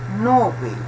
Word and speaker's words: Nobel: Nobel, Prêmio Nobel de la Paz. Não é Nobel, como nós dizemos em português, né?